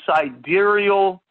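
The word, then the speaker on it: sidereal: days and 7 hours that is called a side aerial month I'll spell it out for you s i D e ar e al again s ID e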